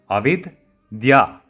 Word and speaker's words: Avidya: If I slow it down, Avidya. Avidya. Avidya is a word used to describe everything that rejects science. Vidya means science, and adding a prefix of a makes it avidya, which gives the opposite meaning of science.